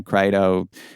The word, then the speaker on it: Crito: And had he done it, certainly in the Crito, the Crito, the Criton, I've heard it pronounced both ways, but for whatever reason I'm calling it the Crito.